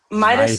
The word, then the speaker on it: Midas: Might as Touch. Midas Touch.